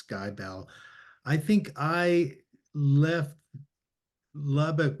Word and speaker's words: Skibell: But because we grew up because the stores were everywhere, and everybody in our hometown of Lubbock knew how to pronounce Skybell, I think I left